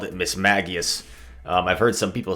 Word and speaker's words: Mismagius: anime and in the anime they called it miss maggios um i've heard some people say miss mages but it seems like the correct pronunciation is miss maggious and this thing is very interesting i'm looking